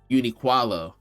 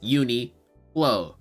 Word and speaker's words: Uniqlo: at my job right he pronounces Uniqlo uniqualo right what the I don't know where he added the extra qua from but it's uni whoa right that's the only way